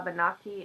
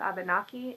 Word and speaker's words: Abenaki: grace is half a banoffee and half Irish I'm really sorry I'm going to have to look at how that word is pronounced it's a de and Aki half Abenaki and half Irish again sorry